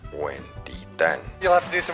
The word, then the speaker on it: Huentitán: Also, Barranca de Huetipo. De hecho, se pronuncia Huentitán.